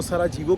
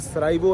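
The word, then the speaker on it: Sarajevo: भी नहीं पता होता वो सरा जीवो कह रहे होते हैं हालांकि सरा इवो है जे साइलेंट है मैं आपको एक चीज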